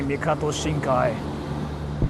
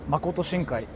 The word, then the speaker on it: Makoto Shinkai: Unix huny anime by mikato shinkai mikato shinkai are the best Makoto shinkai I think you said it wrong but thank you so